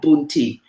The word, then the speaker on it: Punti: are known as punti it's spelled p-u-n-t-i boon ti so those are the